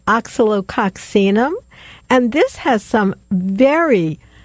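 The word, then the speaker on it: Oscillococcinum: If you get it, and how we pronounce this is oxalococcinum.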